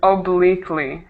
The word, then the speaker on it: obliquely: not sure which word it is could you spell it o b l i q u e l i okay um obliquely obliquely obliquely obliquely right so that's um by